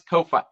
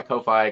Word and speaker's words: Ko-fi: can I know, because the whole thing is like you can buy me a coffee, but it's spelled Ko-fi, and I'm like, but that's Ko-fi.